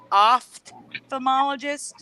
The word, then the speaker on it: ophthalmologist: It's OPHT. So instead of opt, it's oft. I can't even pronounce it. It's like an F sound before the T. Ophthalmologist instead of op.